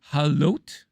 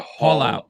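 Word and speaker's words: Haulout: Halot? Haul Halot? out, like a Haul out.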